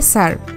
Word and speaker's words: স্যার: কথা শোনানো আবির বলে সার না ওটার উচ্চারণ হবে স্যার অন্যদিকে মাহিরা নামাজ পড়ছে